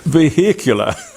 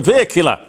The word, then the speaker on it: vehicular: performing an extra veicular I love the way Americans say vehicular it's a vehicular a vehicular activity in space during